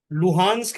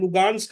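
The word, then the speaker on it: Luhansk: लुहान्स्क एंड लुगान्स्क आर the same thing, but Russian और Ukrainian pronunciation हो जाता है, ओके।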